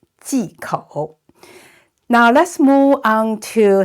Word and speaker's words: 忌口: And OU is pronounced O. So third tone, 口, 忌口, 忌口.